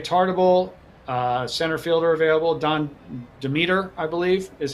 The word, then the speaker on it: Demeter: Don Demeter, I believe, is how you pronounce it, center fielder.